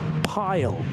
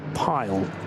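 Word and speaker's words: Pijl: Pile, I think. P-I-J-L. And the I and the J in Dutch is often considered to be like the English Y. So I'm going to say Pile.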